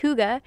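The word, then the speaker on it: hygge: I was pronouncing it wrong and it's actually pronounced Huga it's a Danish practice of finding cozyness and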